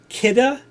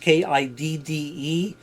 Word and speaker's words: Kidde: This was a carbon monoxide detector that was made by Kidde, is how it's pronounced, Kidde. A lot of people call it Kitty or just Kid.